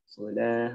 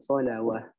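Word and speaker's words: صلاة: Solah, bukan solawah. Karena ada juga kalimat solawah gitu ya. Ada juga di dalam Al-Quran. Gitu ya. Solah, ada solawah gitu ya. Nah, ini harus hati-hati. Jangan sampai terbacanya solawah. Kalau dia mau dibaca solawah, di atasnya huruf waw ini harus ada fathah.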